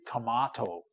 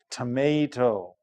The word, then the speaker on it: tomato: Uh how does it how does some people say tomato but Americans say tomato.